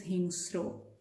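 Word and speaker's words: হিংস্র: no vowel in between because this is a consonant cluster. So S and R are joined together. So this is how you are supposed to do it and you are using the built-in O sound at the end. That's why it is hingstro.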